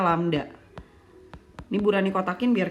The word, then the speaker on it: lambda: Berarti langsung ketemu wavelength-nya adalah, wavelength ditulisnya begini ya anak-anak, dibacanya lambda.